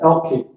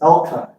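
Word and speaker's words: Alki: In their language, it's supposed to be pronounced Elkie. Everyone here says Elkai.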